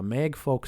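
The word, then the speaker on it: Mægfolc: Next item I'm going to read is called Mag Folk Skull or Mage Folk Skull. That's always how I pronounced it. It's M- AE G F O LC. Uh Mag Folk Skull as it's pronounced in a vowed.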